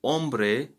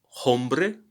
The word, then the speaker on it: hombre: is that the word ombre have the word ombre has a silent letter h at the beginning so we don't say hombre but we say hombre what happened here i